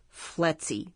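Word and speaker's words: FLETC: was held at a f LC pronounced fletzy Training Center located on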